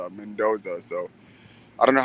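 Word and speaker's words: Mendonça: benkana i believe uh is pronounced mendoza the c is like a pronounced as a from what i hear because i watched his last fight and the way that the announcers were announcing him was mendoza so i don't know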